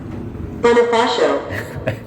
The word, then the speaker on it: Bonifacio: So I chose British pronunciation. Play it fast and it sounds like an upper class bird from Chelsea. BONAFACIO. And play it slow and it sounds like Sharon from Essex, my manor. BONAFACIO. And then it's totally different when you got the American pronunciation.